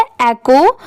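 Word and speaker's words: echo: तो देखिए इसमें पढ़ते टाइम एच साइलेंट होता है। इसे क्या पढ़ा गया है? इ की साउंड ऐ की आ रही है और सी ओ को। तो इसे क्या पढ़ा गया है? एकको।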